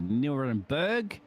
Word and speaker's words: Nürburgring: Welcome along, of course, for the 6 hours of Nürburgring. I can't pronounce the U with the double dots across it.